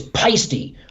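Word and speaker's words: Paiste: And is it Peisty or is it paste? Because I always say in the beginning I used to call them paste symbols and I'd be like, no, it's not paste, it's Peisty. I got a set of Peisty 2002s.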